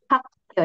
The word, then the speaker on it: 학교: Oh ya, Hakyo ini bacanya pakai Sanggyeok. Karena apa? Karena giok ketemu giok jadinya Sanggyeok. Hakyo jadinya. Hak. Hanya tebal ya.